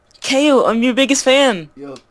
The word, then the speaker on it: Kaio: It makes Kai. Oh, like I. Because I is spelled A-Y-E. Alright? Hmm. Depending on where you're from. Alright? Mm-hmm. So that could be Kai or K. However, this... it's Kaio.